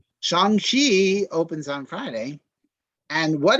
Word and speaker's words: Shang-Chi: the emcee universe um shang chi is starts on friday right shang-chi excuse me i've been pronouncing it wrong and i got correct shanghi opens on friday and